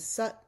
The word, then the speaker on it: sat: Tut means that meaning the formless, the ultimate reality and sut means truth, all that is eternal and unchanging.